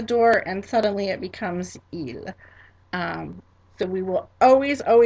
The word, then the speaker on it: il: Third person plural masculine or mixed gender group, il, il.